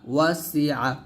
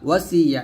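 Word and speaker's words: وَسِعَ: ওয়াসি আইন জবর আ ওয়াসিআ ওয়াসিয়া এরকম না ওয়াসিআ এরকম আস্তে আস্তে কাফ র পেশ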